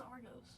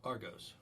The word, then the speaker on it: Argos: And My name is Argos. Argos. Argos? Yeah, Argos. Okay.